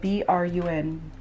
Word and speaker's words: Brun: How would you pronounce that? B-R-U-N.